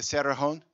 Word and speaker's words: Cerrejón: I was wondering from Claudia that whether in the case of this Cerrejón, am I pronouncing it right? Coal mine. The Cerrejón?